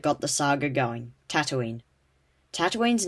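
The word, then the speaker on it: Tataouine: the saga going tatooine tatooine's name came from a city called tatooine pronounced the same but spelt different earth tatooine is located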